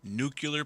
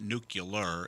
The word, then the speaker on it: nuclear: Uh they they targeted oil and gas firms, nuclear plants, as uh my my new daughter-in-law would say. It's not nuclear, it's nuclear. Make sure you sell it right. Say it right.